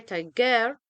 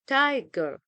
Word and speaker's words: tiger: followed by unstressed syllable such as tiger we don't say tiger we say tiger so the stress is on the first syllable and we have another